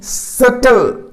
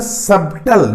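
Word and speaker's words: subtle: सटल, इसमें B silent होता है, सबटल, बट the pronunciation is सटल, सटल, सटल, TLE एक साथ, जैसे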